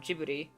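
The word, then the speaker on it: Ghibli: hot tapes and whatnot since I brought up jibbery which is how you pronounce it I was about to write it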